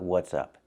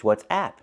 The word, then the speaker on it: WhatsApp: sound the same and the messenger is not what's up it's what'sapp it's an application so we have to pronounce it with the a sound like black